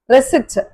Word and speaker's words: receipt: இந்த வேர்ட்லையும் கூட நம்ம வந்து பி ப்ரொனவுன்ஸ் பண்றது இல்ல. இட் இஸ் ரெசிட்.